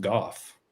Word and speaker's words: Gough: I think kind of like it makes me think of like Van Gogh, but apparently it's pronounced Goff.